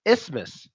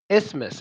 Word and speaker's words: isthmus: these words out okay so in so it's pronounced isthmus isthmus is not a difficult word to pronounce it's